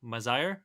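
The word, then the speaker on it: Mazayr: it how do you say it uh m-a-z-a-y-r mazaire yeah um yeah really really good love the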